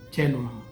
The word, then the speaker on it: coelum: Por ejemplo, cielo se escribe coelum, se lee chelum.